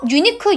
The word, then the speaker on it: unique: 유니크, 유로 시작하니까, 모음이니까 아닌가요? 아닙니다. 자, 봐봐. 너, 당신. 영어로 뭐죠? 대명사? 그죠? 유저. 그거 발음이 Y로 시작해요. 자, 얘는 이 발음이 Y로 시작이 되기 때문에 다시 말해서 발음이 자음으로 시작합니다.